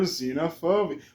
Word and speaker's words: xenophobia: X is for xenophobia. Why the fuck is it xenophobia? But it sounds like a Z, but spelled with an X.